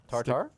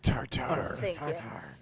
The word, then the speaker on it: tartare: Tartar? No. How No? how Steak does tartare. Thank you. I don't want to mispronounce it in their colloquialism.